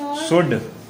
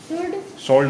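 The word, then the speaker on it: should: शुड, सोल्ड नहीं, शुड।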